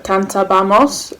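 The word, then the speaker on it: cantábamos: used to sing um kanta bamos and be careful there was an accent on the first a of the abamos you plural used to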